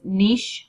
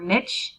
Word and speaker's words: Niche: So this is niche or niche, depending on how you're raised, what your pronunciation would be.